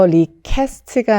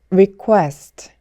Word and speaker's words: request: QUE는 쾌가 아니라 코에라고 했죠. 그래서 request가 아니라 request, request, request.